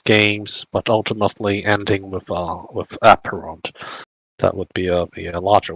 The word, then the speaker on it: Apeiron: Yeah, actually pronounced Apeiron, not Apeiron. It's okay. A lot of people say Apeiron.